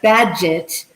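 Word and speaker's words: Bagehot: badgett and in 1970 it's like a badge it's magic right badge it badge i know i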